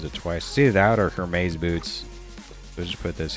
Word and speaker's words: Hermes: I mean, Hermes, that's how you say it.